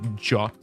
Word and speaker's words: JWT: is um this thing for people who maybe uh uh pronounce it differently because he pronounced it jot I'm talking about about this stuff so I call them jts I don't know what